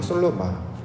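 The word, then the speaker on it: שלמה: 정확한 발음은 솔로마. 이걸 이제 솔로몬으로 이제 우리가 번역을 했는데 실제로 성경에 기록된 말은 솔로몬으로 기록된 게 아니라 솔로마라고 이제 기록되어 있습니다.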